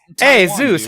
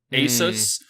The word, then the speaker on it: Asus: __ ] just like it's just like it's a Zeus how you doing actually the the [ __